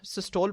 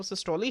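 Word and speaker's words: systole: अब बच्चों यहां पे जो है मैं अक्सर जो है वो इसको सिस्टोल पढ़ लेता हूं। ठीक है? लेकिन मैंने आपको बताया है कि इसकी जो असल प्रोनाउंसिएशन है वो सिस्टोली है।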